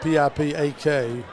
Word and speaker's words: Pipak: And so Daniel Pipak, that's the way I pronounce it, P-I-P-A-K, Pipak.